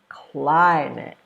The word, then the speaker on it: climate: nouns so for example the word climate that's a noun remember nouns are a person a place or a thing climate has two syllables and this rule says you stress the first one so climate so to help you know how to create that stress you can move your body climb it you can raise your voice climb it can say it louder